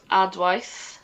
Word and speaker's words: Adwaith: My band is called Adwaith. It's spelled ADWAITH, and you can hear us on Spotify, on all obvious streaming platforms, YouTube as well.